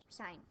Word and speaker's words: sine: It's sign. It's spelled s i n e.